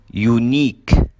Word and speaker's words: unique: Number 7 endings with I Q U E, الكلمات اللي بتنتهي ب I Q U E بننطقها كمان long E, فبنقول unique boutique critique.